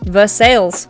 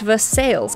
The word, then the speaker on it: Versailles: Versailles. Oh my god. Yes, very specific. The city's name is pronounced Versailles, an anglicization different from the French pronunciation of the royal city the same name near Paris.